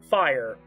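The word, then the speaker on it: Phyre: You may call me Fire or Fire spelled with a phy is who you'll be playing as.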